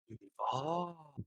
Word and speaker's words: Duval: It's no longer Duvall. It's Duval.